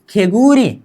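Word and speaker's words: 개구리: ग प्लस उ गु, र प्लस ई री, खेगूरी, क्या खेगूरी, क्या खेगूरी मतलब मेंढक, क्या बोलेंगे, मेंढक।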